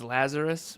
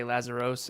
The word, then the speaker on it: Lazaros: it don't even stress it's Lazarus but it's spelled with an OS so most people say lazaros and the world does